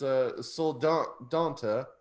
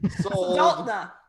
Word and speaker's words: Soldotna: Now this last one, this town I never heard of, but it's Soldonta. Did I say it right? Where is it? Soldonta. Soldonta. Yeah. Soldonta. Soldotna.